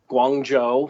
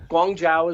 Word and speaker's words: Guangzhou: I feel better now no gong Jiao is the Cantonese and Guang Joo is the Mandarin so I'll try and